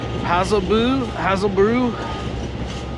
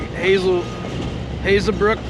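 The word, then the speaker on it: Hazebrouck: And I just stopped in, I believe it's pronounced Hazelbrook, whatever. It looks like Hazelbrook to me.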